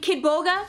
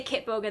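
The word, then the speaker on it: Kitboga: you know someone named kid boga they never say it right they never say kit boga they always say kid boga do you know kid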